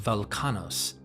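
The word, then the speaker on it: Velchanos: As Welchanos, pronounced Velkanos, is potentially a dialectical version of the Sanskrit Balakana, Velkanos is actually a later Greek pronunciation of the original Minoan.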